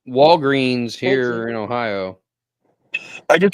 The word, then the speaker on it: Walgreens: management at my local Walgreens it is indeed pronounced Walgreens and they actually sent an email higher up in the company to find out if anyone in their areas pronounced it walg and they said they